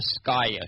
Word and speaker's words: Skyaia: a i a basically it comes from two different terms sky sky everything in the universe and Cosmos and then Gaia as in mother Gaia